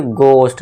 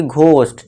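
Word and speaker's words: ghost: इसे क्या पढ़ेंगे, गोस्ट, ना कि घोस्ट।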